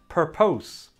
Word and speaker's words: purpose: as you can see it also has two syllables and the stress is also on the first syllable so it should sound like this purpose purpose per puss per puss purpose i'll say it one